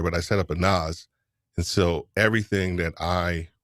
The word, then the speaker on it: NAS: How are you pronouncing that? It's a NAS.